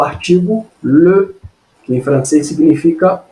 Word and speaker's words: les: E o que a gente escreve aqui, ó, les, mas não pronuncia les, só pronuncia le.